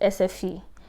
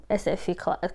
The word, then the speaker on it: SFI: There's what they call Swedish for immigrants, SFE. It's SFI, but I think they pronounce it SFE.